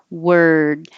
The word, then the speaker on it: word: All of these look like OR, but sound like ER. And this one will the will stretch a little longer because the final sound is a D. The voiced sound at the end makes the vowel a tiny bit longer. But actually, when you're going from the R to the D, that takes time.